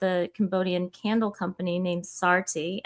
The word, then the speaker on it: Saarti: But my my I partnered also with a Cambodian candle company named Saarti, S A A R T I.